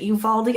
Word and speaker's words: Uvalde: Is it Uvalde? I didn't want to say it because I don't want to say it. Uvalde. Yeah, that's right. Uvalde.